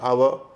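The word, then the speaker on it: hour: जैसे honest आवर इसमें क्या है कि शुरू में एच है। वो साइलेंट है।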